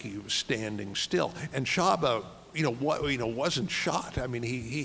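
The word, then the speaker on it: Csaba: You can pronounce his name for me. Shaba, C-S-A-B-A. Yeah, Shaba.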